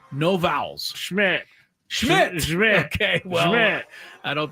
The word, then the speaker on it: Szmyt: Schmidt.